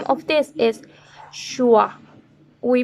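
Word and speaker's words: schwa: Then the other, and this is curious, the name of this is Shua. We pronounce this like uh, uh, uh.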